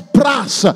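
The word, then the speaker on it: πρός: que le agrega es pras. Se deletrea P-R-O-S, pero se pronuncia pras, pras cartereo.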